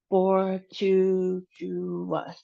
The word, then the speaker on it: fortuitous: So, for this word, we have fortuitous. And for this one, we have the emphasis on the second syllable, tu.